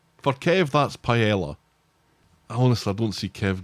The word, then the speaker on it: paella: For Kev, that's paella. Honestly, I don't see Kev going for something as exotic as that. Kev's Kev's fish and chips. Paella is not that exotic for Kev.